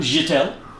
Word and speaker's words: Jetta: How do you pronounce that? Jetta.